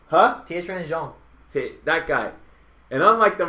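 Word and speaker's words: Tiequan Zhang: Tietran Zhang. Huh? Tietran Zhang.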